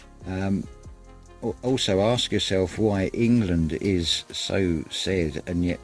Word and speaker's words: England: also ask yourself why england is so sad and yet it is spelt with the letter e and it is pronounced as an i i also think of